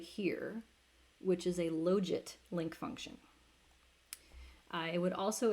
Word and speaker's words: logit: So this is, I pronounce it logit, but however you want to pronounce it.